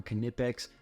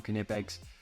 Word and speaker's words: Knipex: know anything about canipex you know first of all that it's pronounced knipex all you trolls out there say whatever you want all right but the official YouTube of canipex all their socials say cutting it backs so eat that